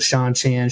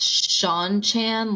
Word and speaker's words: Seanchan: you think we pronounce I think it's Shan Shan like the name Shawn because that's how the